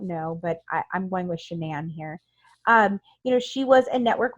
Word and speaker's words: Shanann: And Shanann, I think it's Shanann. I've heard her dad say Shannon, but then I hear everyone else say Shanann.